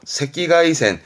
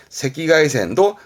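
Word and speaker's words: 赤外線: 그때 발음은요, 새끼가이센, 새끼가이센도 아울러 봐두시고요.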